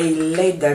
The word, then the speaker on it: lather: A lather, not leather like leather, but a letter. So it's spelled L-A-T-H-E-R.